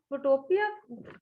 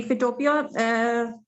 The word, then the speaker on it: Photopea: लोगो maker और कौन कौन सा बताया था, फोटोशॉप और फोटोपिया? आप इसको प्रोनाउंस कर सकती हैं फिर से एक दफा? जी फिटोपिया, फिटोपिया बेसिकली इसी तरह ही है जिस तरह PHOTOPEA।